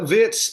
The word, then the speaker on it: Wirtz: How versatile is Viet to pronounce it correctly? Uh Vitz is I mean for Liverus he's always been